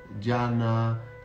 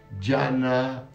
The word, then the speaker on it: Dhyana: Dhyana, que es el origen de la palabra del budismo, ¿no? Dhyana quiere decir sentarse a meditar. Dhyana, Chan, luego se traduce, en China se llamó